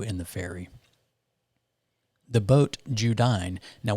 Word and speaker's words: Judine: the ferry the boat judine now we pronounced it judy for the week uh it's spelt j-u-d-i-n-e